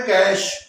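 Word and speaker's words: cache: जो अपन ऑक्सीडेशन है वो है कैश कैश जैसे हमारे पास पैसे होते हैं कागज के नोट उसको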